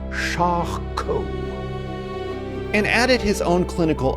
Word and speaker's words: Charcot: It's pronounced Charcot.